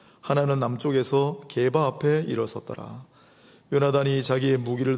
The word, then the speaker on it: 요나단: 죽음의 경계를 뚫고 생명의 경계로 나아갔던 인물 요나단. 영어로는 조나단이라고 하는데 원래 원 발음은 요나단이 더 맞습니다.